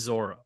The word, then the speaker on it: Zoro: crazy but it is Zoro it is Zoro in the anime he's Zoro in the live action show he's Zoro and the Creator even says like just pronounce it Zoro un toys his Zoro